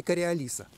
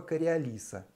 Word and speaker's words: Кориолис: математика инженера гаспара гюстава кориолиса и поскольку он был французом правильное ударение ставится на последний слог его фамилии к realise опыта на